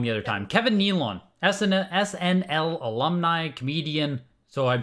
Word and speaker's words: Kevin Nealon: from and Kevin Nealon sorry I pronounced his name wrong the other time Kevin Nealon SNL alumni comedian so I'm sure a lot